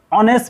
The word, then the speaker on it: honest: a horse কিন্তু ইয়াত চাওকচোন he was this honest man s to আছে কিন্তু ইটো সাউন্ড তো হোৱা নাই কে হনে নহয় এটো সাইলেন্ট লেটাৰ হৈ আছে গতিকে he was this